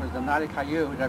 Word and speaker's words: Nadia: As you can see, I have a lady here, and her name is Nadia. Did I pronounce that right, Nadia?